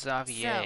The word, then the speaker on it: Xavier: believe his name is pronounced Xavier.